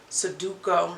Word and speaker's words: Sudoku: I try to do Sudoku.